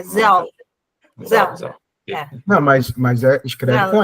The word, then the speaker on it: Zelle: O Zelle, o último a gente não pronuncia, não é Zelle, é Zelle.